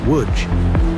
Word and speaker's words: Łódź: Say it like woodge.